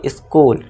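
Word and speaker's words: school: इसे स्टूल नहीं पढ़ेंगे, इसका करेक्ट प्रोनाउंसिएशन आपको पता ही होगा, आप बोलते भी होंगे डेली, आप जाते भी हैं अपने स्कूल में, है ना, आपको सभी को पता है। तो इसको क्या पढ़ेंगे हम, स्कूल।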